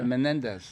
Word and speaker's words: Menendez: Yeah, Menendez.